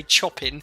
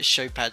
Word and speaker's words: Chopin: how you pronounce it i used to always say chopping but we're gonna go with uh show pad today so look at this we're